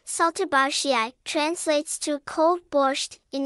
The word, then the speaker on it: Šaltibarščiai: Šaltibarščiai, pronounced Šaltibarščiai, is a traditional Lithuanian dish that is also known as cold borscht or Lithuanian pink soup.